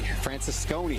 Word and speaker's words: Francisconi: Francisconi, that's how you say it.